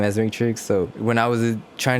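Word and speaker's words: Mattrixx: producer is matrix and i know it's spelled m-a-t-t which a lot of think it's mad but it's matrix just with two t's and two x's because you know i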